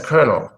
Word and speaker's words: colonel: and like the glasses that's the colonel colonel yeah basically how how Yvonne just wrote it colonel so this word is Colonel I don't know who